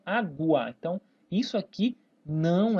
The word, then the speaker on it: água: Eu falo U, eu não falo aga, eu falo água.